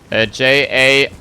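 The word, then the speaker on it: Jahr: Like it sounds a little different and you write it differently. It's J-A-H-R. That's ja, which means year.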